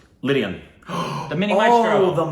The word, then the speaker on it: Lydian: Leane. Say his name. Lydian.